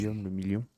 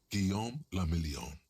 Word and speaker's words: Guillaume le Million: Guillaume le million. Guillaume la Million. If it doesn't rhyme, you're not pronouncing it right.